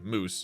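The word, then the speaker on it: Mousse: each other whole lives until uh Calgary's daughter it's spelled m-o-u-s-s-e moose tells them and then runs back and and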